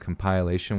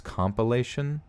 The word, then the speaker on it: compilation: a decent pronunciation but people have been pissed at me lately for Saint compliation when it's compilation compilation I guess which Sheena